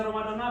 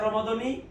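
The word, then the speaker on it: رمضان: Yang baca ramadana bagaimana? Sah. Yang baca ramadani sah.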